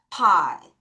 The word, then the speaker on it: pie: 여러분, 이때 이가 magic 2로 소리가 안 나요. 그래서 또르르르르 I에게 I라는 발음을 해라 라고 신호를 합니다. 따라하세요. pie.